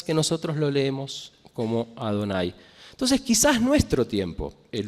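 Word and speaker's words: אדני: acuerdo a nuestra tradición, olvidamos cómo pronunciar, y que leemos como Adonai, aunque no diga eso cuando uno lo lee en hebreo.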